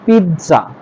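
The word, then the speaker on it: pizza: আমরা আগে পিজ্জা বলতাম এটা পিজ্জা হবে না এটা হবে পিজ্জা পিত তর মত উচ্চারণ হবে মাঝখানে পিজ্জা তারপরে যেটা এটাকে আমরা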